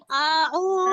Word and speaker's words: أعوذ: আর আউযু বলতে গিয়ে এরকম টান দেওয়া যাবে না। আউযু এরকম হামজার মধ্যে দেরি করা যাবে না। আর আপু। আইনের মধ্যে, যে আইনের মধ্যে অনেক বেশি টানও দেওয়া যাবে না। এখানে টান হচ্ছে এক আলিফ, তাহলে আমরা সর্বোচ্চ আমরা কি করব, 2টা হরকত পরিমাণ আমরা টান দিব।